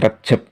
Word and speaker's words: Rejab: Selanjutnya adalah kalender Hijriah, yaitu bulan Rajab, sedangkan kalender Jawa disebut bulan Rejab, yaitu pengucapannya dijawakan.